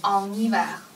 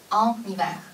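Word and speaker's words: en hiver: 好了，在冬天。En hiver。 OK。啊，注意连读。En hiver。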